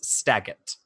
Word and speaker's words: Staggett: His name is Captain Justus Staggett. Captain Justus? I'm just going to spell it phonetically. Staggett. Mm-hmm. Like Bob Saget, but with a T, yes.